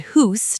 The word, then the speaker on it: house: Canadians say about and house a bit differently. It sounds like a boot and hoose to some ears, but it's a very subtle sound.